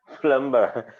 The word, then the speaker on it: plumber: called what it's called plumber so also that b is silent so you have to